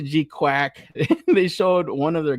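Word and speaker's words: GQuuuuuuX: Uh they pronounce it G Quack.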